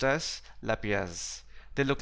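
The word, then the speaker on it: lapies: refer the collapsed sinks the next term is pronounced as lapias they look like this carved cut and you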